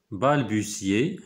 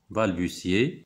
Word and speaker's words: balbutier: balbutier هنا كتنطق تي اس. balbutier تأتأ أو تأتأ دونك كيهضر بواحد الهضرة اللي مفهوماش ولا متردد.